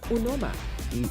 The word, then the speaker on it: Unoma: I shall now call you Azad because my name is an Igbo name out of Nigeria, and the right pronunciation is Unoma.